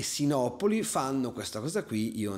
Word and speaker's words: Sinopoli: diceva carian kliber and snapi eh cioè Sinopoli pronunciato all'americana che ci sta che un americano pronunci Sinopoli snapi Il problema è che